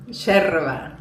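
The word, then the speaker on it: yerba: यह माते बनता है इस हर्ब से जिसका नाम है येरेबा शेरबा शेरबा शेरबा शेरबा प्रोनाउंस करते हैं इंग्लिश में येरेबा लिखते हैं ओके शेरबा माते शेरबा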